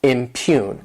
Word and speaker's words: impugn: verb impune to impugn this word has two syllables and the stress is on that second syllable impune and what it means